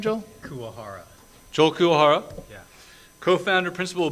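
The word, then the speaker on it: Kuwahara: how do you say your last name joel kuahara joel kuahara yeah co-founder principal bentobox entertainment produces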